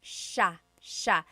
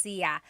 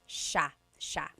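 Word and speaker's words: siya: It's sha sha. The s i y combination makes that sh sound. It looks like it should be pronounced sa. There are some regions in the Philippines, I believe, that say sa, but usually in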